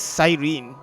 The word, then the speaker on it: Cyrene: Oh, Cyrene.